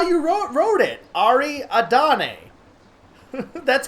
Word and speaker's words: Ariadne: But like, how do you pronounce that? Written A-D-N-E. I want to, like, my brain wants to add an A.